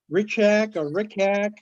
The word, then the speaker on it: Richat: It's about the Rickack structure in Mauritania.